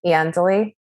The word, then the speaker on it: Iandoli: miss say it um hi i'm i'm eandley um also known as 3000 and uh